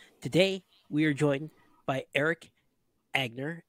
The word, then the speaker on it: Erik Angner: we are joined by Eric agner did I say it correctly there's two ends in there and I prob you